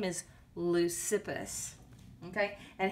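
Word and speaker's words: Leucippus: yes they are on page five then comes lucapus i'm pretty sure i'm not pronouncing that lucipus his name is lucifus okay and how do i know that because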